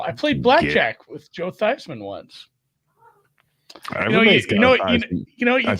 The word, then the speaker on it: Theismann: He was Joe Theismann growing up, and they changed the pronunciation to Theismann because it rhymed with Heisman.